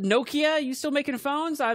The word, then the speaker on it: Nokia: hit me up um it's Nokia first of all just don't yeah I think the people over the pond call it like Nokia they pronounce all their vowels weird how about Nakaya now